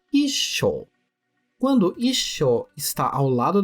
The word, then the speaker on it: 一緒: Cuidado Com a pronúncia já aqui em ISO temos um t logo após a sílaba e indicando uma pausa breve portanto a pronúncia correta é ISO quando ISO está ao